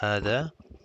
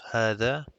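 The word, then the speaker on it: هذا: And hana dhalika are pronounced as hada with an alif. So it's hada and dhalika, but are written without the alif. So if you see here, it's hada, but there's actually an alif there, and dhalika also has an alif.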